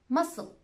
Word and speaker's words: muscle: seen sent signs scissors it's also silent after the s in this word muscle yes it's just an